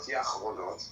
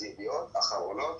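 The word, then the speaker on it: ידיעות אחרונות: It's not Yachronot, okay? It's Achronot with an Aleph at the beginning. And it's kind of cute that you both kind of pronounced it, and you both pronounced it wrong. It's Yediot Achronot.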